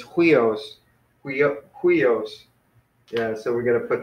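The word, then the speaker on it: υἱός: So if it was here, then we would say huios, but we're not. We're actually saying we os. So the accent is on the end, so it's huios.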